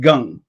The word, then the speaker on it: Kang: name is kang but in korean it's pronounced gang americans usually pronounce it kang like there's a daniel